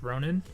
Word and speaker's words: Ronin: the new car it's the Ronin or the Ronon I think it's pronounced Ronin I do like it it